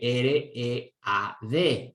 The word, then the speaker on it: read: Cuando se juntan la EA, ¿ok? Que suena muchas veces como I, como el verbo leer, que se escribe R-E-A-D, E-A. Se lee o suena como read, I, ¿ok? Y ahí se juntaron la EA, que se convirtió al pronunciarla en I.